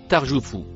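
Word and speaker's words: ترجف: Le mot en rouge se prononce tarjoufou.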